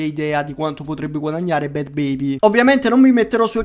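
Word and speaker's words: Bhad Bhabie: Adesso invece troviamo Bad Baby, e comunque si pronuncia così perché ho cercato su internet, quindi si pronuncia Bad Baby.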